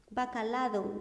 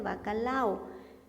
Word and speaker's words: bacalao: Bacalado, pastillas de bacalado. No, son pastillas de bacalao.